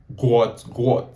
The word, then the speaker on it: Gout: let's do this so guys the name is Guat according to what his father said because if